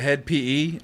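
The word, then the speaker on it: Hed PE: used to listen to head pe that's how you say it it's like a metal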